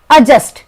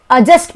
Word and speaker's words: adjust: fifth fifth number पर अजस्ट यहां D silent है अजस्ट बोलते हैं इसको फॉर्म्स ऑफ वर्ब